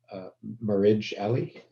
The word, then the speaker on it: Marij Ali: to and i apologize if i get your name wrong uh marriage ally uh hi uh yes you got got it